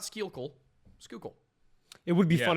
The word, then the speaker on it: Schuylkill: It is pronounced Schuylkill. Not Schuylkill, Schuylkill.